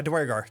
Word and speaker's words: duergar: roughly about, yeah, Duergar.